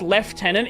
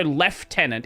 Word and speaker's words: lieutenant: My understanding is it's it the reason why it's left tenant is it's closer to the the French um where it was left something and then they adopted that into English as left like left as in the direction left tenant as in tenant you would have in a property. So, left tenant instead of lieutenant.